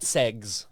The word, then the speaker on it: seggs: They call it segs with 2 G's.